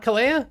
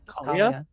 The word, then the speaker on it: Kalia: Ka said her name wrong. Is it not Ka? Kalia. Kalia.